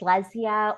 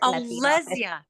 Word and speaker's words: Lezya: what you're talking about Le laia is that how I say your name yes that's perfect lesia or the Spanish pronunciation my parents are Leia Leia Leia or Leia